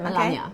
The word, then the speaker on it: Melania: to No, pronounce it? she- Melania? She says it Melania.